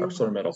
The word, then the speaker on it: ArcelorMittal: ArcelorMittal.